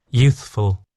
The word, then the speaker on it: youthful: So there's a slight gap there to give your tongue the t the time and the ability to go to from the th sound to the f. So let's listen how they say it again. Youthful. And you can hear a little bit of emphasis at this begin at the beginning here.